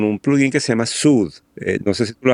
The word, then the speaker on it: Soothe: Dinámico pero pero inteligente se escribe s o o t h e sude este el nuevo el